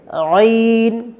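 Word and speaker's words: ع: অংশের সাথে মিলে যাবে আইন আইন আইন আইন আশা করি বুঝতে পারছেন প্রিয় বন্ধুরা অনেকেই আইন বর্ণটি উচ্চারণ করবার সময় ঠিক এমনটি করে থাকে আইন আইন এমন বলা যাবে না এটা সম্পূর্ণ ভুল হবে আইন বলা যাবে না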